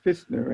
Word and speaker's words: Pfistner: I'm sure it's pronounced Fistner, and the P is silent.